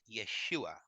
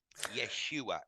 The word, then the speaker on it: Yeshua: original English name is Yeshua which if you break it down phonetically it sounds sounds an awful like an awful lot like yes you are Yeshua yes you are and